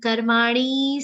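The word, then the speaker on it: कर्माणि: Ni is a short sound. So karmani, some people drag it, that's wrong.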